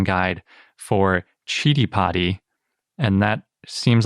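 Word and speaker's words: Citipati: a little side note i found the sanskrit pronunciation guide for chitty potty and that seems like it's the correct way to say it and not city potty or city potty which is especially confusing now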